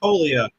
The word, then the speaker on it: Toglia: Toglia, with a silent G.